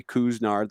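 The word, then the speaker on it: Couisnard: and uh and jermaine kuznarth and that is how you pronounce it everybody kuzner like k-o-o-s and then nard and ryan i'll ask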